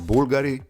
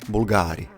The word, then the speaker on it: Bulgari: of the brand name, it is pronounced BULgari, not BulGAARI The company was initially